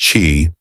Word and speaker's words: qi: Take, for instance, the concept of qi, pronounced chi, the life force energy that flows through everything in the universe.